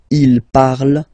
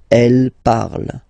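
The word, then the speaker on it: parlent: And the last one, so even if you've got this ent, well, don't hate me, but you won't pronounce these letters, okay? You have to write them for the plural form, but you don't pronounce them, so you get il parle, elle parle. So the good news is that you've got here je parle, tu parles, il, elle parle, and then if you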